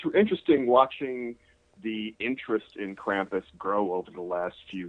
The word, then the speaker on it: Krampus: here for a second, is Krampus, or Krampus, wherever you're from. Some people call it Krampus. It's Krampus is how I pronounce it.